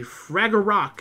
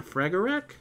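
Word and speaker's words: Fragarach: her Noble fantasm is the fragar rock that is not how you say it it's the frager ferak all right gouging sword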